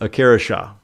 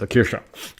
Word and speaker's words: Akira Shah: But Akira Shah. You got to say it like a sneeze. Akira Shah.